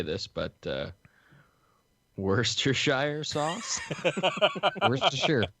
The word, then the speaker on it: Worcestershire: Worcestershire. It's sheer.